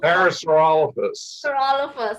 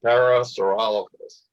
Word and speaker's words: Parasaurolophus: Parasaurolophus. Okay. Parasaurolophus and Prosaurolophus and Saurolophus. There's a whole bunch of these guys. Yeah. Even But it's Saurolophus is the main part, so Parasaurolophus. Okay.